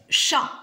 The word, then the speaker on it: chat: Alors, dans le premier mot, chat, quelle est la lettre muette? Maîtresse. Vas-y, Ryan. T.